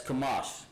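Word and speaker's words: חמש: notes, because I know Sister Adrian has been in class. She knows that it's Kamash. That's how you say it.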